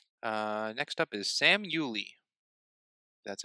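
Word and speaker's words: Uley: be it is uh next up is Sam Uli that's how you pronounce his last name what do you think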